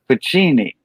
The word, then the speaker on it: Pacini: He said Pacini. Okay. That's how you say it, Pacini? Because I see the N before the CCI. UCCI. I'm just pronouncing it like I see it.